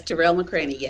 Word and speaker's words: Tarell McCraney: plays by MacArthur fellow Terell mccraine did I pronounce his name right yes terel mccraine great okay uh the play is running February